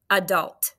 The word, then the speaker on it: adult: Hope you're not saying short U, right? In unit 6, we know that this is the open syllable exception, like A, Alaska, Now, this one could be a little bit tricky.